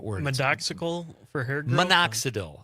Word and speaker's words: minoxidil: But he also says medoxical. How do you spell that, Con? For hair growth. What is that word? Medoxical for hair growth? Minoxidil.